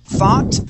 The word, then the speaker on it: thought: Now, I want to practice your TH sound. Okay. Two words specifically, thought and three.